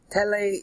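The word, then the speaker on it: θέλει: Tele is the sound of it. Is T-H-E-L-E-I, meaning he wills.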